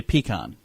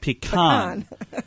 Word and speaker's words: pecan: it to come and I say pecan put too much emphasis on the peak pecan and you say pecan either way how do